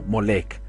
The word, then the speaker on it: Molek: da origen al o cuya contracción de ese nombre se pronuncia como molek bien ese Dios molek